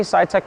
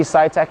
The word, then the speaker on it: Sitek: So our company, Sitek Process Solutions, is a refurbisher of front-end semiconductor equipment.